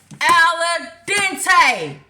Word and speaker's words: al dente: Al dente. Marissa. Al dente. That's how you say it.